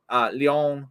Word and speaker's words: Lyon: day over in, and I'll try and get the pronunciation right because it has the French inflection, Lyon, France.